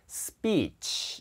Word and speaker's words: speech: 예를 들어서 S 다음에 이렇게 P가 오잖아요. 그러면 speech 이렇게 돼요. 소리가. 스피치가 아니고요. 예, speech.